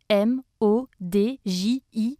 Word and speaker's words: Imodji: dire emoticon chiquissime fashion on l'écrit comme ça se prononce im aux djs pour faire simple le